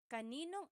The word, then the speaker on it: kaninong: This second part is how it would be pronounced. I just want to show you how it would be pronounced. It's not technically the correct spelling of things, but that's how you would hear it or say it quickly.